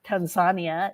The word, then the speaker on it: Tanzania: as I went to Tanzania uh Tanzania is how they pronounce it I brought my medical